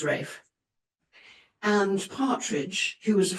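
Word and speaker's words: Ralph: came a handsome young straightforward military man called Rafe Partridge, spelt Raff, pronounced Rafe.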